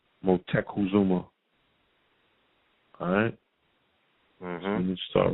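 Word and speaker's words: Motecuhzoma: of um Montezuma's name the proper pronunciation is mo tech cool Zoma motek Kazuma alright I'm going to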